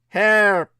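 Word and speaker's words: HAARP: The HARP, properly pronounced as HARP, acronymous for the High Frequency Activated Auroral Atmospheric Resonance Research Projection Program, so popularly discombobulated as simply HARP.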